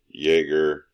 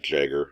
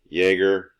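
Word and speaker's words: Jäger: Okay, Pulse, Smoke, Mute, Jaeger. Yes, that's pronounced Jaeger, not Jagger. It's German.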